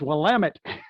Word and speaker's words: Willamette: And even, basic things like how to pronounce street names or, the strange towns that have different pronunciations, Hey, new guy, it's Willamette.